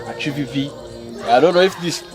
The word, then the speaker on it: Atsupipi: Atsupipi. When you are pronouncing the word, as I said, your tongue and your teeth, there should be a combination of transfer of air.